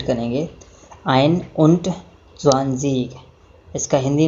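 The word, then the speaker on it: einundzwanzig: जैसे 21 बोलना है तो पहले आइन, उसके बाद और उसके बाद 20 बोलेंगे, यानी कि 21 को प्रोनाउंसिएट करेंगे आइन उंट ज़्वांज़ीग।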